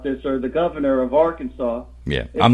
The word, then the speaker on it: Arkansas: right well you have you have the word Arkansas and saw is s.a.w and it's SAS but if you take the AR out of Arkansas that's Kansas and they spell it Kansas yeah now are working